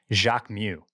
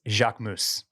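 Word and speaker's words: Jacquemus: to admit that uh it is not Jacques Mew what is it it's Jacques moose oh okay yeah is it yes which seems to go against the way that you're supposed to pronounce French things I feel like they I feel like the S is constantly silent I would have just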